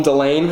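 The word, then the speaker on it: Dillane: by a guy named calm delaine i believe that's how you pronounce his last name he went to nyu and he started the brand in 2011.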